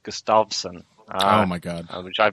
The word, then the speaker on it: Gustafsson: fight against Gustafson and apparently which should be pronounced Gustafsson oh my god which I've been doing incorrectly